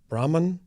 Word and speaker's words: Brahman: I think I pronounce it wrong, but it's Brahman. Yes, very well.